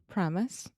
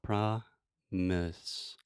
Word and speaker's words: promise: Promise. Yeah, so if you think about promise, I'm not saying promise. Promise.